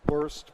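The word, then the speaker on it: WOEST: best data we have now are from the west trial small study small study many flaws but truthfully it it's pronounced worst but it's the best we have so i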